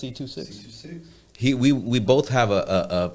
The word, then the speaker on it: C2Six: That's how you pronounce C2Six.